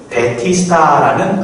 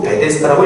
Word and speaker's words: 베데스다: 여러분, 베데스다는 이것이 히브리어인데 이 히브리어는 사실 아람어를 소리나는 대로 바꾼 겁니다. 베티스다라는 아람어를 히브리식으로 베데스다라고 읽은 거죠.